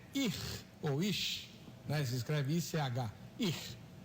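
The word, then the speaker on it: איש: E em português fica muito ruim, muito feio, mas em hebraico é muito bonito, porque varão em hebraico é ir, ou ish, né? Se escreve I-C-H, ir.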